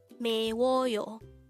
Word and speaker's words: 매워요: number 250 Meo Meo this is pronounced as a three syllable word the first syllable is me second syllable is w and third syllable is Yo pronounce it with me mayoo the Korean word meyo